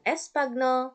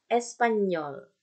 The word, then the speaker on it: espagnol: Tapi Espanyol. Nah, manis kan? Espanyol. Oke. Jadi dibacanya. Bukan espagnol, tapi Espanyol.